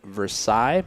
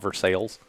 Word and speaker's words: Versailles: It was held March 18th and 19th in Versailles, Missouri, I believe is how you say it. So they say it in France. Yeah.